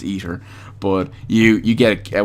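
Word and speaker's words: aether: in this word because I usually say it properly or I usually don't say it properly you get an eer ether key now usually I say an Eder key because I grew up saying Eder even though now I know the word is ether but you you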